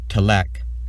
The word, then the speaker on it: Tëlek: Tit, or the English pronunciation Tëlek, is my first Conlang.